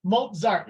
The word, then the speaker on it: Mozart: 100 smozer yes Mozart Mozart is how I pronounce it in English Mozart yes thank you